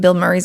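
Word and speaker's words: Bilmuri: The way you say is Bill Murray, but it's not spelled like Bill Murray.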